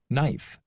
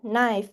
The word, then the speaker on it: knife: So, the line one we have is silent in the in the word no. Knife. Knee. Right. However, in the last word, we have the word thank. It is not silent.